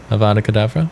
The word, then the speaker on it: Avada Kedavra: Avada Kedavra?